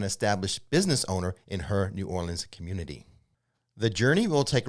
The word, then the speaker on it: New Orleans: Is it New Orleans or New Orleans? What's the cool way to do it? It's Nolans. Nolans.